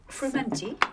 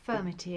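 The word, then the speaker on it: frumenty: Would you like some more of this fermenti? Yes. Is that the right pronunciation? Yes, it is. Actually, sometimes people call it firmity and it's spelled a different way, but quite often that would mean the sweet one.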